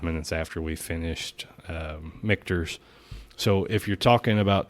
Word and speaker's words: Michter's: Michter's. Michter's, yep.